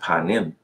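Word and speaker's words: פנים: So they say it's pronounced panim. And I agree with that. Panim, it can be pronounced that way.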